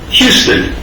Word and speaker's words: Houston: Yes, my name is Houston. That's spelled H-U-S-T-O-N, but it's pronounced like the city in Texas.